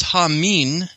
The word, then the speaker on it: Haman: You could also play a little bit of a pun here, because you could also pronounce it as Hamin.